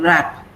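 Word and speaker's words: wrap: Now W-R-A-P, W is silent. So you pronounce only R sound. Rap.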